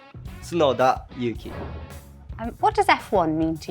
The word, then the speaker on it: Tsunoda Yuki: It's opposite actually, saying Tsunoda Yuki.